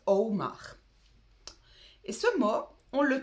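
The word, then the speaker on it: אמר: Ça s'écrit A-M-A-R, mais ça se prononce Omar.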